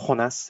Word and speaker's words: Jonas: It's pronounced Jonas. Thank you very much. Say that again. My name is pronounced Jonas. It's in Spanish.